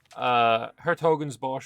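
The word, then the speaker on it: 's-Hertogenbosch: Apostrophe S is not something you can just, like, pronounce. Hertogen's Bosch, where Hertogen means dukes and Bosch is forest.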